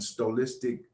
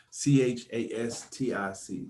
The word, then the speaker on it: stochastic: as moving averages and stolistic oscillators to find how profitability trading setups now still i i mispronounced that at stoke castig s t o s-t-o-c-h-a-s-t-i-c stochastic oscillators to find high profitability